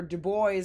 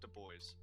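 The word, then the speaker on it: Du Bois: since we're in America they pronounce it de boys yeah they do think about think about W de boys it's not du he's not fancy yeah that's true or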